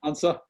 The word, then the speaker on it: Antze: how do you say your last name ansa hansa from green neighbors network and they're gonna